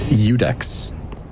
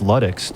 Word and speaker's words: Ludex: How do you pronounce the first word in Gundyr's name? Udex. No, it's Ludix, dude. No, it's literally, why would it be a lowercase L at the beginning of his name?